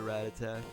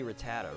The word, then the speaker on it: Rattata: was a kid everybody's everybody everybody pronounced it rat attack rat attack for some reason and that's just obviously wrong so it's got to be Rattata right I'm pretty